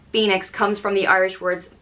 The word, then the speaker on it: Phoenix: I think everyone knows this name it's spelled p-h-o-e-n-i-x and pronounced the Nyx Phoenix and this one comes